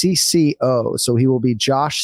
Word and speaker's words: CC0: crypto split space uh written cc0 but pronounced CCO so he will be